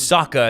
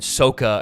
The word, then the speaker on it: Sokka: they just changed everything they changed weird pronunciation things in the show the kid's name is eng but in the in the movie it was ong and it was saka in the show and sokka and it was like